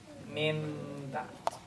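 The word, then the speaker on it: مِن بَعْد: All the ulama agreed on one thing, that this will happen, that you have to transfer the noon into a meme. And you pronounce it mim bad.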